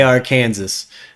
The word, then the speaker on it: Arkansas: Zimmy, that state right there, Arkansas. Okay. AR Kansas. But you pronounce it Arkansas.